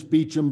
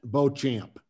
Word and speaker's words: Beauchamp: it was uh uh beecham pronounced english beecham but french beauchamp okay i was close